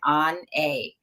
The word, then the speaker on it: Onae: people would call me on like oh n on a and so on a because that's pronounced pronouncing the pronunciation for it but it